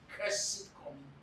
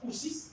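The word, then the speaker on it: Coussey: He was spelling it Coussy. So, if care is not taken, you will pronounce it Kussy Commission. It was Kusi. The name was Kusi.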